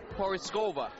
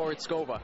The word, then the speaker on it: Porizkova: And I'm here with Paulina Porizkova. That's right. I practiced all week, I have to say. Oh, thank you so much, and you did a wonderful job of pronouncing. Porizkova.